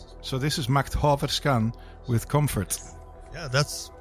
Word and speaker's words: Makthaverskan: Makthaverskan. So this is Macht Haverskan with Comfort.